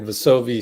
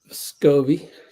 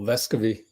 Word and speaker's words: Vescovi: Then we're supposed to switch everything, and Vasovi said my bad on the switch with DP. DP being Daeqwon Plowden. All right. Vescovi. Oh, Vescovi. Pronouncing it wrong.